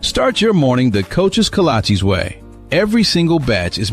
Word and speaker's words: kolache: What's a colache? Oh, cola cheese? Colache? Kolaches? Kolache? Like the shoes? No, that can't be right. It's kolache, but it don't matter what